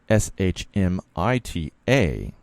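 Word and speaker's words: שמיטה: The proper spelling is Shmita, and it's pronounced like this, Shmi-ta.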